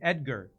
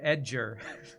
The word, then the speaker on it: Edgar: love that character edger he'd pronounced the G not with a G but with a J sound it's like wow is English or second language cuz I've never heard somebody pronounced Edgar edger before and uh really funny